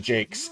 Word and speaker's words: Jacques: It's actually Jakes, even though it's spelled Jacques.